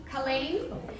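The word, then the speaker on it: Kaleen: the suburb of Colleen Colleen I think I'm the only one that knows it's pronounced like that so we've got block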